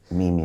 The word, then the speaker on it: Mimu: I always forget to say it, but it's like me and music. Mimu. But it's spelled M-I-M-U, so it's really okay.